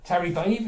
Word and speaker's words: Terry Bave: And this is Terry Babe. Is that how you pronounce it? Terry Bave is the man's gentleman's name.